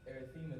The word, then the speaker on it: erythema: Is that how you pronounce that? Or? Erythema, that's redness of the skin, and that'd be